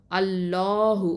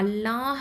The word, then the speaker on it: الله: அப்போது அல்லாஹ் அப்படிங்கிற வார்த்தையில் உள்ள லாமுக்கு முன்னாடி எழுத்து ஃபத்தா இல்லைனா தொம்மா இருந்துச்சு அப்படின்னு சொன்னால், அல்லாஹ் அப்படிங்கிற வார்த்தையில் உள்ள லாமை தான் தஃப்ஹீமா, அதாவது வல்லினமாக உச்சரிக்கணும்.